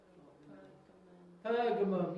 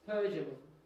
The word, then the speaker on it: Pergamum: And remember, Pergamum, if you say a soft G in the middle instead of a hard G, it's Pergamum. and that starts to sound much more like parchment, Persian parchment, and